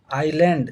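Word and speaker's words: island: आइलैंड। देखिए इसको आइलैंड पढ़ते हैं। आइसलैंड नहीं पढ़ते हैं। आई एस एल ए एन डी। एस क्या होता है? साइलेंट होता है। आइलैंड।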